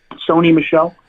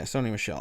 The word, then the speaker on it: Sony Michel: you say his name Michelle how it goes Tony Michelle yeah Sony Michelle all right so 18 points so had he